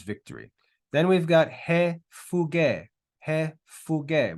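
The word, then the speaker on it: φυγή: Then we've got he fuge. He fuge. We've got phi, upsilon, gamma, and eta with an accent on the last syllable.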